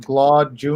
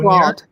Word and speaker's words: Glaude: And the other one is by Eddie, I think it's pronounced Glaude Jr. Glaude, yes.